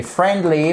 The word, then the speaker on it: friendly: On n'emploie pas, on l'écrit, mais on ne prononce pas le I.